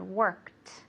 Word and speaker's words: worked: yesterday good okay so it has a heart T sound worked okay because the K is an unvoiced or non-voiced sound we don't use our vocal cords so we have to use the T okay so one more